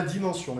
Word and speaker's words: dimension: Dimensão, la dimension. Em francês se diz c'est la dimension, e se escreve assim.